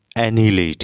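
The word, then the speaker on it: annihilate: ये इसको हम बोलते हैं एनिलेट। क्या बोलते हैं? एनीलेट। A double N आई एच आई एल ए टी ई।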